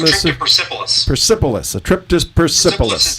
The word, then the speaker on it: Persepolis: You published an article on the Daily Caller, and a trip to, how do you pronounce this city? What's the name of the city? Persepolis.